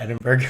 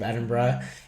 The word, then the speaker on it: Edinburgh: Edinburgh is how it's pronounced, not Edinburgh, which a lot of people think.